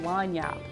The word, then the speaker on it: Lagniappe: this video is called Lagniappe. And it's kind of a funny word. L-A-W-N-Y-O-P. It's spelled like this, which is kind of crazy, yeah.